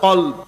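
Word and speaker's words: قلب: আল্লাহ এই কুকুরকে কি মর্যাদায় অভিষিক্ত করেছেন দেখেন কালবুন মানে কুকুর আরবির মধ্যে কাফ লাম বা কাল আরেকটা হচ্ছে কলব এটা হচ্ছে কফ দিয়ে কলব তো আপনি কলবুনকে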